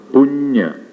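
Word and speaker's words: puñña: This diacritical mark, the worm on top of the N, pronounced as nya. Punya.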